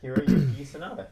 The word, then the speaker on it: Hiroyuki Sanada: I apologize if I offend anybody with this pronunciation. Hiroyuki Sanada. Canceled. Yeah. Canceled. Right? I mean, that's pretty good, right? Yeah, Hiroyuki Sanada.